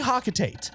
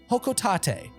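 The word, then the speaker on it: Hocotate: family on planet hakotate I used to say hakatate I think the print the official pronunciation is hokotate I'm going to say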